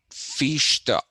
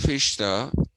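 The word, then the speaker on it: Fichte: hudson actually his full name is johann fishta that's how you have to the original pronunciation would have been johann that would have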